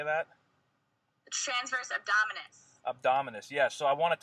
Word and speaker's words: abdominis: the transverse abdominals how do you say that abdominis yes so I want to talk about that